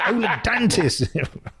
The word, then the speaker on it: Ola Dantis: I guess I would want to hear him say, "Welcome, Ola Dantis." What if you got your name wrong? It's like, no, it's not. It's Ola Dantis.